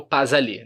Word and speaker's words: pas aller: Por exemplo, outro exemplo é o pas aller, né, que a gente tem aqui. Pas aller. Então são 3 exemplos de liaison, de ligação. Aqui eu pronuncio o S.